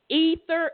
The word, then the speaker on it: aether: Ether, aether, but they pronounced it ether.